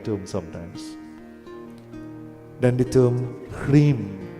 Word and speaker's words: Hrim: Then the term Hrim, H-R-I-M, or sometimes you hear the word H, you see the word H-R-E-E-M, Hrim.